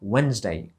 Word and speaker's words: Wednesday: tak byśmy to wypowiadali Otóż nie bo to the jest nieme i też jakby to e też jest Nie my wymawiamy to jako Wednesday Thursday 2 sylaby Wednesday